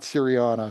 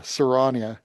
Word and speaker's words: Serrania: Uh since most of the stories of their their background would be in the Frostfell or in uh not Syriana, Serrania. That's it. Mike Mike corrected my pronunciation.